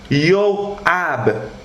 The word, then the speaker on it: Joab: Joab de l'hébreu, ça veut dire Yoab, Y-O-W, l'apostrophe, A-B à la fin, Yoab.